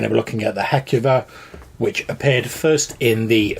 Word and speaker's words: Heucuva: draped undead creature that from this moment on we're going to be calling the heckuva that's just how we pronounce it pronounce it however you